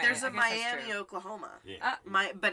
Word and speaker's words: Miami: London Tennessee that's not all right there's a Miami Oklahoma but it's pronounced miam really oh yeah well it's the